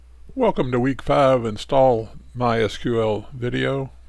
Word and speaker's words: MySQL: my website alright so MySQL it's pronounced my SQL it's an open source